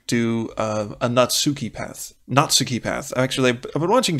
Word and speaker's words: Natsuki: realize wait a minute it's a Japanese name of course the emphasis has to be on the first syllable so Natsuki so I want to